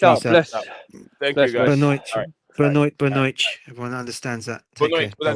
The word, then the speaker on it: boa noite: Benoit. It means good night. Good night in Portuguese. Benoit. In European Portuguese, it's boa noite, and then in Brazilian Portuguese, it's benoit.